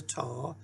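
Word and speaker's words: ת: Sound, the name is a taw, and it makes a T sound, as in t, t, t.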